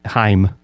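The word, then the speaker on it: Haim: decide if i like heim that's correct pronunciation rhymes with rhyme you know it's like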